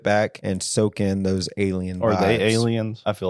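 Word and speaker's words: A'Le'Inn: and ra and Rachel what alien alien get it alien alen but it's is spelled a l e i n n oh yeah alien alien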